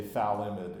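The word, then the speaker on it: phthalimide: and it's almost unpronouncable I'm not sure what language the pH th together comes from I'm not sure if you're supposed to go and then I think most people just say thid and call it good I think the pH is silent um so whatever uh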